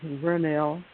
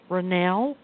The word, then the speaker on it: Vernell: Okay, my name is Vernell. It's spelled with a V, like in Victoria. Vernell. Renell? Yes. Hi, Renell. And what is your question today? Oh, it is Vernell with a V, like in victory.